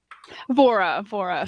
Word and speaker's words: Vora: It should be spelled with should be pronounced with a hard H. But that's You did this. All right, you well, did I will this- tell him that he is pronouncing his name incorrectly. He's pronouncing it the American way.